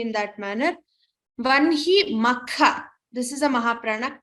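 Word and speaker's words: वह्नि: So lot of people tend to put say ha before na, but for this class we'll be pronouncing it as vanhi, though it is written as vahni. Many chant it as vahni, but for this class we will be chanting vanhi as my gurus have taught me in that manner.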